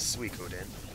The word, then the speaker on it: Suikoden: And 108 health is yet another reference to Sukaden. And yes, I realize the official pronunciation for the... Well, no one. who knows this, is Suikoden. But I will pronounce it the way I want to pronounce it.